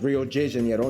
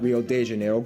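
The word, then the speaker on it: Rio de Janeiro: that's right it's pronounced Rio Jano not Rio Deano get it right we're not in Mexico this is Portuguese not Spanish this was done in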